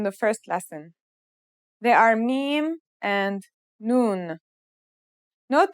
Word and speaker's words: mim: Now let's start with our first letter, mim. This letter sounds just like the English M, and it should be pretty easy to pronounce.